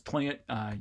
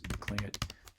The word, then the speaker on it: Tlingit: to that rule where if you're comfortable saying this as Tlingit, you will. But a lot of cases, apparently even when you say it like that, people hear it as Klingit.